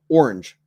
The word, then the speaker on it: orange: different ways people pronounce orange I say orange orange I say it as one syllable and a lot of folks say orange orange with two syllables I say it both